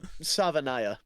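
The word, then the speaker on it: Savaiinaea: Also, Savanaya is how you pronounce his name.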